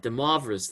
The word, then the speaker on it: de Moivre: De Moivre's theorem. I don't know how to pronounce it.